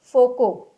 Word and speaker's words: Foucault: It is pronounced as Foucault, and its direction is given by Lenz's law.